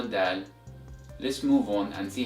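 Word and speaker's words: دال: So the eighth letter of Arabic is pronounced as Dal, Dal, Dal, and as always, repeat after me, Dal, Dal, Dal, and the sound of the letter Dal is equivalent to the letter D in English.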